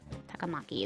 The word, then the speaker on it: Takamaki: you were right yep you pronounce it correctly takamaki is how you would pronounce her name you sure it's